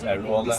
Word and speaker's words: Airolo: And we ended up in Airola, I think it's called, pronounced Airola, a little pizza restauranty.